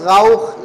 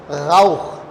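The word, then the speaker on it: Rauch: अच्छा आर का मैं प्रोनाउंसिएशन बता दूँ, आर का प्रोनाउंसिएशन एक्चुअल जो जर्मन है, जो कि पैदाइशी जर्मन है, वो आर को गैन की आवाज़ निकालते हैं, जो हमारे उर्दू में ही है सिर्फ गैन, गाउख, गाउखन, ठीक है ना, गाइजेन, गाइश।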